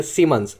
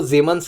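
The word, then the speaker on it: Siemens: सामने दिख रहे हैं सीमंस ऐसा प्रोनाउंस करते होंगे लेकिन एक्चुअली इसका जो जर्मन प्रोनाउंसेशन है वो जीमंस के नाम से आपको देखने को मिलेगा।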